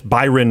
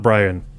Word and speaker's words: Byron: And it's Byron, not Brian.